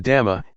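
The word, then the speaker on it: ธรรม: The dhamma, in Thai pronounced in the same way as the word tum, which means to do, refers to nature that exists by itself.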